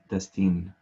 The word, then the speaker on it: Destin: Destin. Destin. Destin is how my name is pronounced.